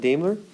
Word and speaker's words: Daimler: Daimler, thank you.